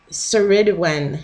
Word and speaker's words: Cerridwen: why I giggled so I think you say it's sir Sir Edwin sir Edwin death and